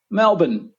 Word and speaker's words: Melbourne: all right I'll break it up for you into two parts first part Mel as in Mel Gibson and the second part is just bin b n no vowels no R sound just been Mel bun put them together Melbourne see we're super good